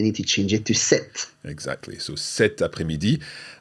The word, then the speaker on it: cette: to change it to cet. Exactly. So cet après-midi. And listen carefully to this feminine version. Cet après-midi. It sounds exactly the same, but it's spelled differently.